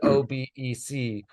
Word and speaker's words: Obec: I'm also curious because I know that I was Pro pronouncing it wrong originally because it is OBC where does that kind